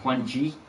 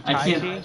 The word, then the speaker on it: Tai Chi: You mean Tai Chi? Tai Chi, I can't never pronounce it right, I'm sorry, dude. You said Quan Chi, which is just like a video game character.